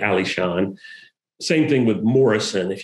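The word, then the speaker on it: Alishan: things were being named they mostly got that name wrong and got it as arizon rather than ali shawn same thing with morrison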